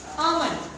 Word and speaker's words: almond: Almond. L is silent. Almond.